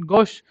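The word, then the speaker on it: gauche: होता है बद्दा, गोश, ये इसकी प्रोनाउंसिएशन है गोश। ओके, ची गोची गोची का ऐसे कुछ गोची गोची ऐसे नहीं करना है, गोश आपको ध्यान रखना है, इसकी प्रोनाउंसिएशन है गोश, GOSH, ऐसे प्रोनाउंसिएशन करनी है, स्पेलिंग ये याद रखनी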